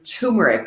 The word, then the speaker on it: turmeric: to Italian turmeric or tumeric sometimes people pronounce it without the R mm-hmm turmeric turmeric is fantastic it's